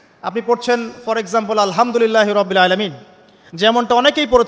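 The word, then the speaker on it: الحمد لله: এই হা এর মাখরাজ কোথায়? হা এর মাখরাজ কোথায় বলেন একজন? কণ্ঠনালীর মাঝখান থেকে। এখান থেকে আপনি উচ্চারণ করছেন আলহামদুলিল্লাহ রব্বিল আলামিন। অর্থ দাঁড়াচ্ছে সমস্ত প্রশংসা জগৎসমূহের রব আল্লাহর জন্যে, ঠিক আছে? কিন্তু আপনি এই হায়ে হুত্তির জায়গায় যদি হায়ে হাওয়াস পড়েন, যার মাখরাজ অন্য জায়গা থেকে, আপনি পড়ছেন ফর এক্সাম্পল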